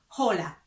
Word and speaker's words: hola: then you can say hola hola we don't pronounce the h because it's silent so you we don't say hola we say hola como